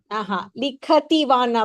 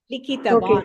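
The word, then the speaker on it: लिखितवान्: You have to say ikara. Likhitavan.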